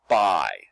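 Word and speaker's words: buy: got a word that does not follow the pattern it's b u y by this is to purchase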